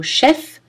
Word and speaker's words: chef: Notez aussi clé, cerf, cerf-volant, nerf, chef-d'œuvre, où le F final n'est pas prononcé, mais en général, si vous avez uniquement le mot chef, alors il est prononcé.